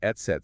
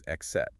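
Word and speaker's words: et cetera: There is almost no other common word in the English language that begins with the etset sound. So the brain just grabs the closest familiar phonetic pattern which is excet.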